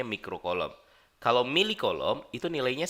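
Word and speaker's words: mikrocoulomb: dan ada mikro coulomb yang ini bacanya mikro kolom kalau milik kolom itu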